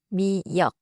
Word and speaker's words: 미역: 미역 has two syllables. 미안 역 미역 미역 미역국 파레 has two syllables 파 and 레 it is not 파란셋 the color blue.